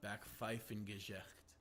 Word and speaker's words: Backpfeifengesicht: It's Backpfeifengesicht, which is, it means a face that needs to be slapped.